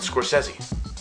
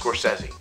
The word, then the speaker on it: Scorsese: I really do appreciate the works of Martin Scorsese and yes it's pronounced Scorsese not Scorsese I'm Italian Scorsese score says The